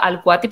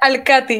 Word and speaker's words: Alquati: vídeos porque no yo tu apellido lo pronunció al cuate pero tal está mal pronunciado así está perfecto que así la gente cuando es el cuate y justamente hay mucha gente dice al khatib y es como que